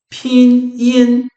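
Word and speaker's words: Pinyin: Se você for falar a pronúncia correta é pin in.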